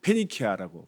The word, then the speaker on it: 페니키아: 거기를 베니게가 지금으로 하면 이제 페니키아라고 발음하죠.